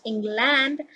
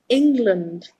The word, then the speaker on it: England: If you put land at the end of a word, it is pronounced as learned by native speakers. The word is England. It is not England, it is England. That is the correct pronunciation.